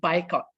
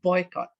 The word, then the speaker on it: boycott: bicoc i came across people saying bicoc instead of boycott okay so some of